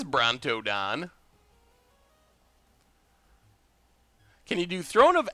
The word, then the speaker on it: Brontodon: Belligerent Bonardon. Oh man. I swear you all are going to hate me when it comes to pronouncing Ixalan cards. Belligerent Brontodon.